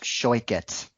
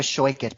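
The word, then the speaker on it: Shoichet: I think her last name is pronounced Shoikit. Rebecca Shoikit, because she told me that on Twitter.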